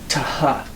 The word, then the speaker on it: theta: But you know that in the time of Christ, it wasn't even pronounced that way. Th. It was a tau, this letter, with an aspiration, a hard H sound. Ta-ha, ta-ha.